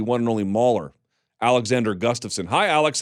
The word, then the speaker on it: Gustafsson: No, like you said, Gustafsson.